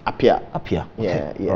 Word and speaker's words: Apea: So what's the right pronunciation? It's just Apia.